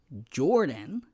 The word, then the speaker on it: B. Jordan: It is B. Jordan, but it's pronounced Jordan. The B is silent, and I know it's hard to pronounce.